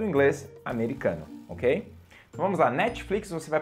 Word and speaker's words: Netflix: né Netflix Netflix tipo a língua só dá uma relada no céu da boca Netflix E aí sai